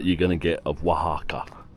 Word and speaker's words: Oaxaca: This right here is probably the best view that you're going to get of Wajaka. Finally, I'm saying it right. Wajaka.